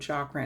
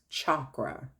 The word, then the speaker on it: chakra: but it's actually uh pronounced chakra like CH like chalk but chakra so the sacral chakras